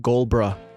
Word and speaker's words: Gulbraa: Brian Gulbraa, everyone. Did I pronounce that right?